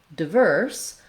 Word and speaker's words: diverse: Then when we look at diverse, I personally will say it with the same I sound or schwa sound, diverse, diverse. But you also can say it with a clear I diphthong in the first syllable. Just make sure that you're still stressing the second syllable. So if you're saying diverse, you still want the length on the verse syllable, diverse.